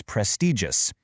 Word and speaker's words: prestigious: And our final word in this vocabulary section is prestigious. Listen to the soft G sound right in the middle, prestigious.